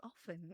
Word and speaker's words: often: It's not often, it's often. Yes. The T is silent.